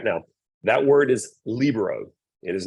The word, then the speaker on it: libero: It's not the Spanish word libero. It is libero, but people are going to look at you funny when you say it correctly, but it is one of the things.